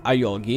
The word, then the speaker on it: Ayuoki: Che c'è, se voi andate a cercare semplicemente il suo nome, che si chiama Ayogi, si pronuncia Ayogi.